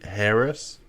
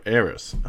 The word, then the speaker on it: heiress: trigger it is frenzied harris harris harris heiress heiress aries you don't pronounce it with the h without the h that's right frenzied heiress oh